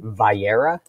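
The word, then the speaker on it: Va'era: Vayera.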